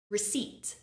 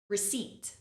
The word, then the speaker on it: receipt: is a common mistake because the p is there remember it's silent listen and repeat receip receip our final word is